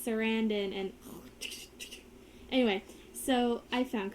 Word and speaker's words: Sarandon: wrong for so long i this serendon but it's sarandan and anyway so i